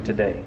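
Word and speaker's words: Tadae: His name is actually Today, but it's not spelled like T-O-D-A-Y, is it? No, it's spelled T-A-D-A-E.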